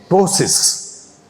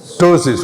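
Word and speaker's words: ptosis: dropping we call it tosis p is silent here what is the pronunciation tosis what is tosis dropping of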